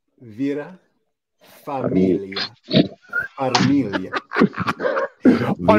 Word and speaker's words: Farmiga: Is it Vera Farmiga?